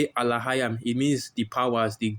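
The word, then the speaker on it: אלהים: They'll say Elohim, Elohim, which is how they say it in the Yiddish, but in the Paleo Hebrew the word is Alahayam, because you see all the letters there.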